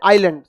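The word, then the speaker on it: island: English में कहते हैं आइलैंड इंग्लिश हिंदी दोनों आपको समझ में आएगा आप समझिए आइलैंड जो होता है आइसलैंड लिखते हैं लेकिन आई क्या रहता है साइलेंट इसे हिंदी में क्या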